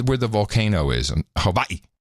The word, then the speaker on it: Hawaii: the volcano is and Hawaii you got to pronounce it correctly Hawaii there's not a lot